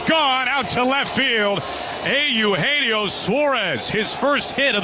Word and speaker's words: Eugenio: Here's Eugenio, as we've said, one of the very few 5-syllable first-name sports stars.